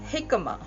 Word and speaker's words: jicama: And this humongous thing is jicama. Jicama spelled Jicama. Obviously, from my pronunciation, you know it is from Mexico.